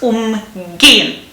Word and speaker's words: umgehen: Okay, so the stress is on the vowel after the prefix umgehen, which results in umgangen.